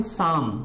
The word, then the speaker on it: psalm: है, CALM, SALM, PSALM, तो इसको बोलते हैं हम शाम। क्या बोलते हैं, शाम। अब यहां पर जो PS है, क्या है, जो PS है, PS को मिला के इसका प्रोनाउंसिएशन केवल S बचता है।